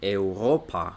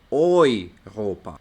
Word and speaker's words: Europa: hoy hoy por ejemplo los alemanes no dicen Europa sino que dicen oopa por qué porque tiene